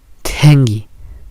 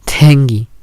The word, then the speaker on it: tengi: Para poder pronunciarla solo hay que pronunciar la T común, pero hay que ponerle una aspiración extra para poder pronunciar lo siguiente: tengi, tengi, tengi, tengi, colorear.